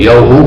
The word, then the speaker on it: Yahu: Mas a pronúncia clássica verdadeira é Yahushua para o Filho, Yahu para o Pai.